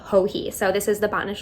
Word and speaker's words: Joji: I've been calling her Joji, but her name is actually Hohee. So this is the Botanist Shawl by Hohee Locatelli.